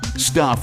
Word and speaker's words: Stuph: Stuff is spelled S-T-U-P-H.